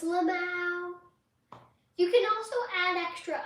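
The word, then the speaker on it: LMAO: I'm announce it as if it was a word.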